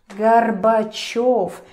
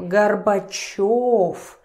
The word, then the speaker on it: Горбачёв: For example, this dude, Gorbachev. Remember the rule that yo is always stressed? I hope you remember. So here is the perfect example. Gorbachev.